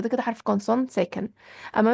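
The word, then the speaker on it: homme: كده حرف كونسون ساكن اما مثلا زي كلمه ام ام يعني رجل فان نطقت الاش نطقت من اول الاو ام يبقى دي كده حرف فوال حرف الاش هنا يتعامل معاه على انه فايال متحرك تمام اتمنى تكون وصلت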